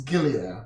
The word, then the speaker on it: Gilead: Let me pronounce it correctly. It's Gilead. I always say Elia.